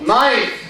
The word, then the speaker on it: knife: So, knife, K is silent.